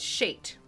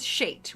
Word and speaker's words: Shate: The pronunciation guide said Shate, so I'm going with Shate. Rhymes with hate.